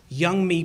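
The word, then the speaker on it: Yeonmi: States and her name is Young me Park young me Park it's spelled ye o m n i but it's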